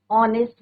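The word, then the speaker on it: honest: लगाएंगे बिकॉज यहां पर एच is your silent H क्या है आपका साइलेंट है और प्रोनंसिएशन किसका है बच्चों ओ का है नेस्ट तो हम य क्या बोलेंगे एन ऑनेस्ट बॉय एन आर S silent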